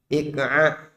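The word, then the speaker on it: إقعاء: Bisa diucapkan? Ik'a. Hamzah, alif ya. Qaf, ain, kemudian hamzah, ik'a.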